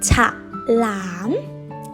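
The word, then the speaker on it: ฉลาม: Thai is pronounced as ฉ ล า ม Repeat after me.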